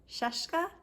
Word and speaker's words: Scieszka: it is by John Seska and it's illustrated by Lane Smith John Cheska rhymes with fresca I looked it up